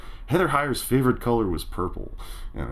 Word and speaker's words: Heather Heyer: in the song, where the name Heather Heyer rhymes with magnifier, and I found it really chilling and really, just on the nose.